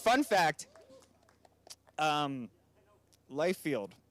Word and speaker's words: Liefeld: writers here today right o in fact um Life field right that's how you pronounce it good all right I actually had